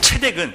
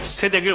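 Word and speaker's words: צדק: 그래서 멜렉이라는 것은 왕이라는 뜻인데 멜키는 멜레크라는 왕의 그 짧은 단어에서 왕이라는 뜻이고, 체덱은 세덱인데 세덱을 원래 체덱이라고 읽어야 되는 거예요.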